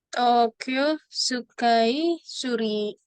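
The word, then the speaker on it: 東京スカイツリー: Sini cara bacanya Tokyo Sky Tree. Tokyo Sukai Suri.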